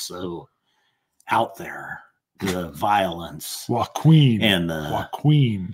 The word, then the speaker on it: Joaquin: It's Joaquin. I'd take the J silent.